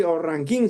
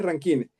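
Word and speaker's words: Rankine: Que es la escala Kelvin, como vemos aquí, y la escala ranket, ¿sí? Ranquín se llama o se pronuncia, ¿no? Porque para nosotros en español es ranquin y la escala Kelvin.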